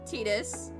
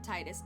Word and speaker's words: Tidus: It's technically pronounced Tidus, but I will forever call him Titus. See, I thought it was Titus, and then I heard people call him Tidus, and I thought that I won't smash her.